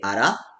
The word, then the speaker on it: あら: So if you pronounce the a part a little higher, like あら, then it's surprised. Surprised expression. But らを高く発音して不審な気持ちを表す. But if you say あら, then it's like, wait a second. It's like suspicion ですね。あたし、一人称、やや砕けた表現。複数形はあたしたち、あたしら、あたしども。I have never heard あたしども though.